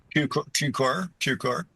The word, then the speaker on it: Cukor: And I've got to get this right because you're you're very specific about the pronunciation in the book. Cuc. Is that correct? Cucor.